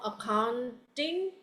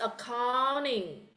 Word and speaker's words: accounting: Like accounting, there is no accounting, it's accounting, okay?